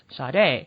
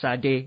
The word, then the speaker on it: Sade: because you know because in america they they pronounce my name as sade and i'm like no it's actually you know because they they're and second of all the proper pronunciation is sadie it's not you know but they sound